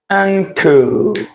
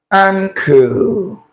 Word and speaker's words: ankle: Now, this sound you have here, it is not n, it's not n, right? Because when you're dealing with consonant, there is a voiced consonant that goes with this, the n sound. The n sound, right? But this sound you're seeing here is the ng. The sound actually appears in this format. Ankle. Ankle.